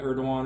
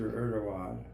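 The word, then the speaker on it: Erdoğan: Erdogan or something, right? Erdogan was spelled Erdogan. There was a G, but they pronounced the G as a W.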